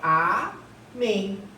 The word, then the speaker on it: amém: Com EM, vamos pegar aqui, por exemplo, amém, ó, amém, certo? Gente, a sílaba tônica aqui é a última.